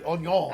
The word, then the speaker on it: oignons: confit de oignons.